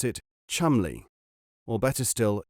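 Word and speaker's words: Cholmondeley: you write it charmunderly but you must always pronounce it chumly or better still chumly you know the sort of thing just as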